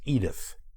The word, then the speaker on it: Édith: French singer and actress Adit POF whose name I will from here on out pronounce in English as Edith in the Belleville District